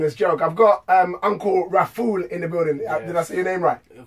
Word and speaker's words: Rafool: I've got Uncle Rafool in the building. Yes. Did I say your name right? Of course you said it right. Uncle Rafool.